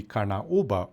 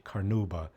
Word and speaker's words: carnauba: Okay, so the first and most important ingredient will be carnauba or if you want to pronounce it in English, carnauba.